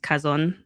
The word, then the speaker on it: Chazon: So my actual my actual um like development profile was uh Chazon. I know it's ch but it's actually pronounced Kazon.